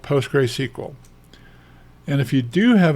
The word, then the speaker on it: PostgreSQL: what is called the post gray SQL post gray pronounced like g r a y SQL so what we're looking for is we're saying do you have a demon out there called postr SQL and if you do